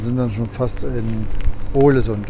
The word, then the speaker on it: Ålesund: Wir setzen hier über bis und sind dann schon fast in Ålesund. Ålesund wird es ausgesprochen.